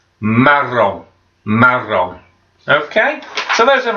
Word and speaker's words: marron: And brown we would pronounce, and again this has got two R's in, so you've got to roll those R's again, make your tongue vibrate against your teeth. Marron.